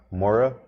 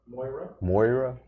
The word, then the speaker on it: Moira: was visions of moria i think that's how you say it maura moira m-o-i-r-a i repronunciate that